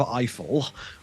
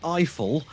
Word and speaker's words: Eiffel: watching a movie called Eiffel, rhymes with trifle, starring some French dude and Emma Mackey from Sex Education.